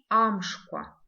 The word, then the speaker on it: амшква: Новый звук, звук к, пишется как к, в.